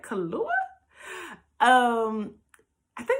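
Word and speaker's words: Kaluuya: to say it's kahlua kaluya whatever you probably don't have to pronounce the why but i'm going to say kahlua so it's played by him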